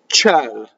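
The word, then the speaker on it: ciel: Here we have a semivowel again, C-I. It's just there to make it soft. It's just soft. Ciɛl, right? So, ciɛl, right? The E is an open E or a big E, okay?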